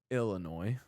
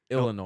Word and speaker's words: Illinois: those of us that say it correctly, it's Illinois. What is it? Illinois. Illinois? Yeah. Ill. Ill? Not L.